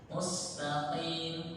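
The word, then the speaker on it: مستقيم: Sedikit koreksinya di pengucapan qaf. Qafnya kurang masuk sedikit. Ya. Mustaqim qim. Ya, kalau kim masuknya ke kaf, masuknya ke kaf.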